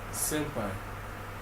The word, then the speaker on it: S3ÑPÅÏ: So it's basically like S because the name of my how to pronounce my name is Senpai like the normal pronunciation is S E N P I N P A I that is the SEI.